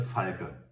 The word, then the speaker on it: Falke: Ignore what you just heard, it's no Falke in there. The Falke. Super cool kit.